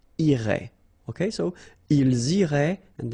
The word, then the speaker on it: irait: Irait, final T not pronounced.